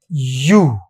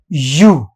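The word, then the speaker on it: ewe: अगर इसको बोलते हैं यू क्या बोलते हैं इसको? यू। ई डब्ल्यू ई को ईव नहीं कहते। यहां पर इसका जो अंग्रेज उच्चारण करते हैं, वह होता है यू।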